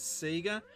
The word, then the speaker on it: Sega: world of illusion and with the saiga being pronounced as Seger you'll know it's me